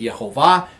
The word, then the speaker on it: Yehovah: In our house, we pronounce it Yehovah, but Yahweh is another variation of that that's very popular.